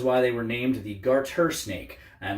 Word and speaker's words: garter snake: correct this is a garter snake and no I didn't mispronounce it they're often called garden snakes in fact I grew